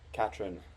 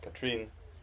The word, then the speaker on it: Katrine: It's Loch Katrine, not Katrine.